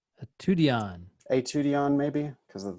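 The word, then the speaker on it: étudiant: that i needed to stop pronouncing the t at the end of french word i'm going to pronounce it as etudian a tudion a tudion maybe because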